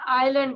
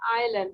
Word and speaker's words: island: আমরা আইল্যান্ড বলবো, এস এর উচ্চারণ হবে না, আইল্যান্ড, ঠিক আছে?